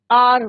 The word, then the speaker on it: hour: H is your silent. Pronunciation किसका हो रहा है? R का. कई बच्चे इसका प्रोनाउंसिएशन क्या करते हैं? हावर. बट इट्स नॉट हार. आर बोलते हैं इसको.